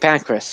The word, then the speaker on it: Pancras: I think it's pronounced St. Pancras. St. Pancras, yes. I keep Yeah, saying I keep saying the word Pancras because it's a weird name. It always sounds the same as pancreas.